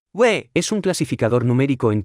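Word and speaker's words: 位: repita en voz alta se pronuncia con el cuarto tono we es un clasificador numérico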